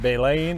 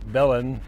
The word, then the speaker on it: Belen: stop near little town secret pronounced bay lane or Belen de LAN and just thought I'd